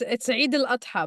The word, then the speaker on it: Eid al-Adha: because WordCamp Europe next year falls again on Eid al-Adha. And please correct me, Samah, if I'm saying that wrong. It's Eid al-Adha, but it's okay. Thank you. I'm trying my very American pronunciation of things, which is one of the